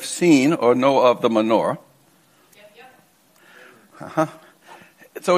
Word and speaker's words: Menorah: or know of the menorah? Yep. So in Hebrew, it's pronounced Menorah. We have a tendency to take Hebrew words into English and, I don't know, they don't sound as pleasant.